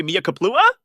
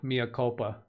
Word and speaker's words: mea culpa: ISM was borderline scary Mia Kaplua? What? That last comment on the ism was borderline scary. Yeah, Mia culpa. It did pronounce the word wrong because you spelled it wrong. That's not mea culpa.